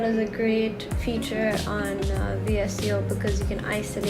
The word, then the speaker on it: VSCO: import them to vseo I'm not even pronounce it as visco but I prefer pronouncing that's vsco teach their own voltage